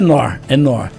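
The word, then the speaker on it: Knorr: O mais interessante é com K. Chamor, né? Seria a pronúncia é tipo Cal do Kor, a pronúncia é nor.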